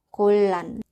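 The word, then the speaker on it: 곤란: Kemudian yang terakhir di sini ada kata gonlan. 받침 nian ketemu dengan huruf real. Jadi 받침 niannya ini berubah menjadi huruf real. Dibacanya adalah golan.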